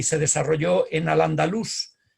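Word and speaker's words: al-Andalus: y se desarrolló en al andalus insisto en la acentuación sobre la 'u' porque parece que se pronunciaba así a pesar de que tradicionalmente se dice al andaluz raramente raramente se ha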